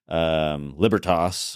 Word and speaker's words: Libertas: There would be the more Germanic, like libertas or libertas, right? Or the more kind of Italian romantic derivative of Latin, which would be libertas.